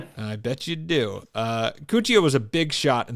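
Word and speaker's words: Cuccia: Um, after acquiring his bank, he received a call to meet one Enrio Cuchia. That's what I'm going with. Cuchia. You could go Cooia, but I'm pretty sure it's Cooia.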